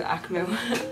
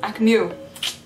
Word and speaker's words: AKMU: Kinda starts off, this style kinda reminds me of Akmu. Akmu. Keep pronouncing it incorrectly.